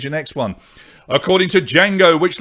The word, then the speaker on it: Django: so what's silent in django what does he say yeah i had a feeling lots of you would get this he does indeed save a d but d is silent 84.5 percent of you